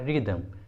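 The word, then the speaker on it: rhythm: अगला है रिदम, रिदम, देखिए यहाँ पर एच आर के बाद आया है इसलिए एच को प्रोनाउंस नहीं किया गया है, एच साइलेंट है इसलिए उच्चारण होगा रिदम, रिदम।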